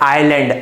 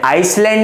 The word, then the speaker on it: island: इसको हम लोग बोलते जरूर हैं आइलैंड, आइसलैंड नहीं बोलेंगे, इसे क्या कहेंगे, आइलैंड, एस साइलेंट है, इसे हम लोगों ने कह दिया आइलैंड।